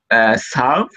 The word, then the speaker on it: salve: But because in Italian you pronounce the All of the letters that are written, you pronounce all of them. vocali, no? The he's saying the vocali, AEIONU. This is in Italian very strong pronunciation, no? Yeah. Salve, no? You know? Yeah. This is important from this Okay.